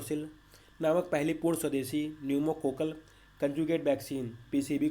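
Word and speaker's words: pneumococcal: Kokalla कजुट vaccine PCB Numa Kokalla में P silent है इसलिए इसको पी से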